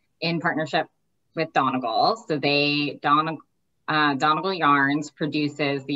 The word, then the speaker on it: Donegal: Donegal.